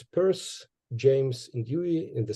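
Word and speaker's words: Peirce: so here in Ukraine this last name of Pur is pronounced as Pier and I I don't know why that's why why we were discussing something in Pittsburgh when you actually pronounced his last name is Pur I uh didn't get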